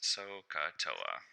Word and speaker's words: Sohcahtoa: Sohcahtoa. So you just spell it out as it sounds, Sohcahtoa.